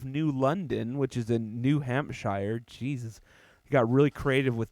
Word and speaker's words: New Hampshire: That's probably how it's supposed to be pronounced, New Hampshire.